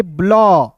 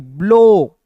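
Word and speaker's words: blow: एल को क्या पढ़ेंगे ब्ल और ओ डब्ल्यू का उच्चारण ओ के रूप में करेंगे ब्लो बी एल ओ डब्ल्यू ब्लो जैसे एक वर्ड्स मैं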